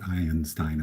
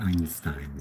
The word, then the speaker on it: Einstein: so I'm gonna try it's not high n Stein as I sang in my songs it's supposed to be Einstein so I apologize to